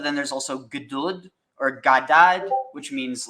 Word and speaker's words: Gad: There is no A. It's GD. Good. It's pronounced Gad. But the word, the reason why I'm saying that is his name literally is basically God.